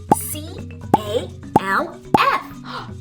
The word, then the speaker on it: calf: do you see calf c a l f but this L is silent that means we don't pronounce it see ah ah we